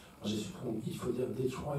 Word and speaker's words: Detroit: J'ai su qu'il faut dire Detroit, il faut prononcer le T, donc j'ai dit Détroit.